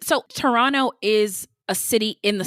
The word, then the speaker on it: Toronto: And it's pronounced Toronto. That's what the natives say.